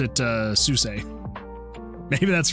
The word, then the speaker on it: SUSE: Cameron says, yeah, I installed it on my OpenSUSE, pronounced Zeus, not Seuss. Oh, I've always pronounced it Suse.